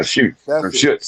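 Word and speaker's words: Schut: It's It's spelled S S C H U T. Shots shorts. That's ors. Yeah, shoots. That's right. Joe says it right there.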